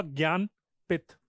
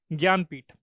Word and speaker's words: ज्ञानपीठ: But actually it's pronounced as ज्ञानपीठ, ज्ञानपीठ award.